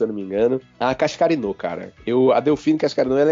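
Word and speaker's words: Cascarino: Eu sou muito fã da Cascarinô, para falar a pronúncia correta.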